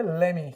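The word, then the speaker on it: let me: तो लेट मी को जब आप प्रोनाउंस करेंगे तो क्या प्रोनाउंस करेंगे? लेमी। क्या प्रोनाउंस करेंगे? लेमी।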